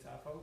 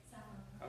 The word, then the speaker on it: Sappho: a 17th century poem by a poet named Sappho. Any of you English literature majors, do you know who Sappho is? Okay, we got somebody who knows Sappho. Am I saying his name right, her name right? Sappho.